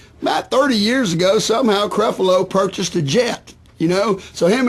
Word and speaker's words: Creflo: I believe his first name is pronounced Creflo.